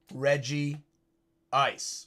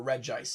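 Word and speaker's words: Regice: And that is Reggie Ice or Rejice, however you want to pronounce it.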